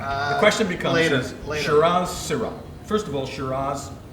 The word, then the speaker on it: Shiraz: And probably Shiraz is what the name probably should be.